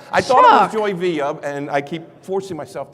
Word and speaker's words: Villa: Joy Villa, Villa, and it's pronounced Villa.